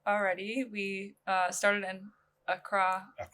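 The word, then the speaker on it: Accra: We uh started in Acra. Acra. Yeah. Am I saying it right? Yeah, Acra. That's the right word.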